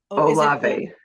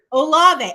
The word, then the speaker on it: Olave: They say this kid's name wrong. So Chris, how do you say his last name? Olave. Olave.